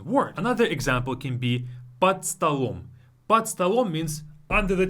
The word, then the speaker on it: под столом: We replace it again, we devoice it again. Под столом.